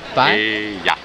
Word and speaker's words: paella: Three syllables, pie. Pie? Paella. Paella. I mean, it's paella, but its spelling is paella.